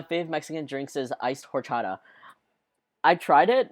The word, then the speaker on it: horchata: The H is silent. It's rice and milk drink topped with cinnamon. Wait, the... Oh, it's... horchata?